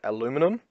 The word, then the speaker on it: aluminum: has a specially designed aluminum or aluminium depending on which nation you're in is how you pronounce it and some blue LED